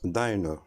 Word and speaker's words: diner: Dans ce cas-là, il se prononce diner.